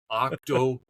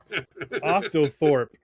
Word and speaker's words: octothorpe: Octoorp. Octoorp. Octangorp. Octothorp. Octang. Oh, no. Wait. I'm I'm mispronouncing it. Octothorp.